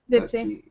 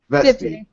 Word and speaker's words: Vipsie: Did I say it right this time? Vipsie. Vipsie. Okay. Yeah. It's not that hard, Crater. It's Vipsie.